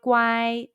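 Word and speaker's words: 乖: good y guy repeat after me good wai guai guai guai guai guai is well behaved in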